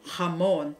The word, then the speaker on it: jamón: And then the Spanish will become the same word, going to Spanish, become jamón, because the Spanish will pronounce the J writing as the H sound.